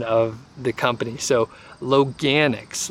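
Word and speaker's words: Loganix: so I was able to confirm the actual pronunciation of the company so Logue annex Logue annex is the name of it and actually all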